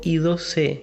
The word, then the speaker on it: I2C: y al cuadrado c en inglés es muy usual que se la pronuncie en el forma y al cuadrado ce hay square por una cuestión fonética para nosotros en español es más fácil decirlo como y 12 a esta interfaz también